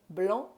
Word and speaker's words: blanc: big sauvignon blanc person sauvignon blanc friends don't pronounce that c and it's a curve